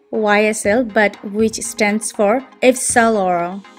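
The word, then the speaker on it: Yves Saint Laurent: আমেরিকানরা এবং most of the people এটাকে বলে থাকে হচ্ছে ইউ সেন্ট লরেন্ট, যেটা হচ্ছে স্ট্রেইট প্রোনাউন্সিয়েশন। বাট অবভিয়াসলি এই ডিজাইনারকে ইটালিয়ান ল্যাঙ্গুয়েজে, এবং অরিজিনালি দে উইল প্রেফার যে আপনারা YSL কে পুরো ফর্মে বলবেন ইফসালোর।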